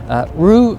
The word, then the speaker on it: rue: verb just like kangaroo that's the correct pronunciation kangaroo rue simply means to regret what do